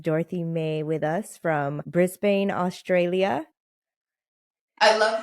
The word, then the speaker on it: Brisbane: how to pronounce it yeah Brisbane it's very Australian as well how I'm saying it Brisbane okay I don't